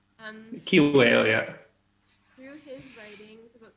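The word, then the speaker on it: Kiwew: How do you pronounce the podcast, David? Oh, Kiwale. Kiwale, yeah.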